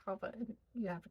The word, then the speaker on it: Chava: mother of life, and I'm actually pronouncing Shava wrong, but for the sake of English Americanizing it, we'll use that. I say it Shava made. That's how I pronounce this. But in Hebrew, I think it's like Chava.